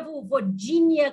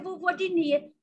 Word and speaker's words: Vulvodínia: inglês nós acabamos pronunciando não é nem vovo de nem é vovozinha como eu uso o certo é vovogni mas eu sei que